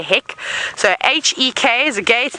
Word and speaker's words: hek: I think hack is the correct way to say it, but because I'm English and I can't speak the language very well, I'd say heck.